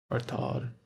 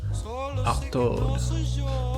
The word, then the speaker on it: Artaud: Artod. I'm not sure how you pronounce it, but let me know, please.